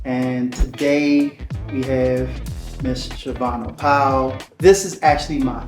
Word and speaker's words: Shavonna: So first off, thank you for saying my name correctly. A lot of people jack up my name, but it is Shavonna Powell.